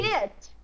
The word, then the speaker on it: shit: O sheet é o papel. O sheet com dois Es. Então vira Papel. sheet. Ele dá uma Isso. E prolongadinha. shit, olha só a pronúncia. Sheet, papel. Shit seria o xingamento, né?